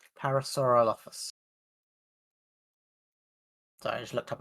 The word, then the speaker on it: Parasaurolophus: Everyone loves Parasaurolophus.